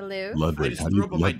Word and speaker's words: Louvre: Ludwig, how do you pronounce that? Louvre. Word? Louvre. Oh. Yeah, I hope that helps. Is it Louvre? Louvre. And it's like a very hard, like, Louvre. And it's like the R is the accent.